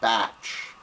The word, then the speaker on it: Bach: be about bach flowers b-a-c-h bop flowers uh i've seen this fellow's name pronounced batch but i'm going to use bach anyway this stuff was started